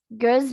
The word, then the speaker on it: göz: Göz mata. Yang ada, ingat ya guys, ada E-nya. Ada titik dua titik di atas O. Jadi bacanya E. Bukan O biasa.